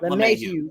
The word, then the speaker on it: LeMahieu: Speaking of, you guys have reactivated, and I hope I pronounced his last name correctly, DJ LeMahieu. Yep, LeMahieu.